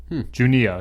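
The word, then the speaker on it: Juneau: to this part but it was called junia junia yeah that's what it's that's that's how you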